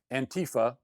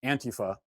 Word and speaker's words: Antifa: more details about the ante fuh someone told me it's pronounced an tyfa I don't really care I'm calling it an tyfa more details about the